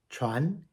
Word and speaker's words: 传: Moving on to the second tone, Chuan. Chuan is a rising tone.